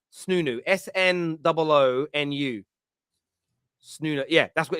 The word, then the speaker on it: Snoonu: Oh, it's called I can never pronounce it. Snunu. Snunu.